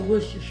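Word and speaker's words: Worcestershire: so it'll pronounce right wor sest Shire sauce we say worshire sauce so anyway so we're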